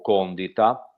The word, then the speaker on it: condita: suo libro AB urbe condita o Condita. Di solito la pronuncia dovrebbe essere condita, però mi suonava un po' strano come latino.